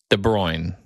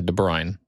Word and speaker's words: De Bruyne: Next one I have is Kevin De Bruyne or De Bruyne. Yeah, De Bruyne. Spell it.